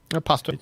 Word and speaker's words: Pasto: Am I pronouncing that right? Pasto, or is it Pasto? Pasto.